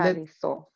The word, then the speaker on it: Tariso: Please, may I ask you to say it loud and to break it down into syllables, because I think it will be 3 syllables.